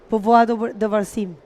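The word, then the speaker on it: Póvoa de Varzim: This time I'm gonna say it right, Povoado de Varsim Right.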